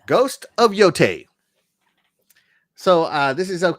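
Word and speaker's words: Yōtei: say it ghost of yote right let me let me spell it out here so it's pronounce yo like yoyo yo t a y t that's right right ghost of yote so uh this is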